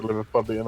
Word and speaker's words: Liverpudlian: That's my best approximation of a Liverpudlian accent. Yeah, they're called Liverpudlians, is how you say their names. Liverpudlian. Even you could have called it Liverpool accent. No, it's Liverpudlian or Scouse.